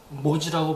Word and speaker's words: 모지: 그래서 이 보디를 한자에서는, 한국어에서는 모지라고 발음합니다.